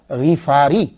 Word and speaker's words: غفاری: پہ شد نہیں ہے۔ یہ اصل میں کیا ہے کہ یہ غفار ہے، غین کے نیچے زیر ہے، فا کے اوپر سمپل زبر ہے، تو غفاری۔ تو صحیح تلفظ یہ ہوگا ابو ذر غفاری.